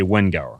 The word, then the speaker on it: Wenguer: I'm always mispronouncing your name. You corrected me though. I think I've been doing it wrong for like 4 years. It's Wengeur. Guer. Guer. You say Wenguer. So Wenguer. You use Wenguer.